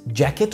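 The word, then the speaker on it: jacket: عندنا بعد كده ده جاكيت، جاكيت قريب قوي للنطق بالعربي بس لازم تحط الدي كده في الاول خفيفه، ده ده ده ده جاكيت، ده ده جاكيت.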